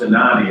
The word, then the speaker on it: Stignani: And the last name, well, pronounced Stanani, there's a G in there, so.